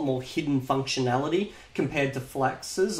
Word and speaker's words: Flax: There's a lot more hidden functionality compared to FLAX's or FLEX's. FLAX. I keep mispronouncing it. I think like flexing.